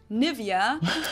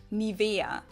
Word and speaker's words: Nivea: pronunciation pretty funny here English native speakers usually say Nivea niia in German we say nia nia so the emphasis is on the E this is a German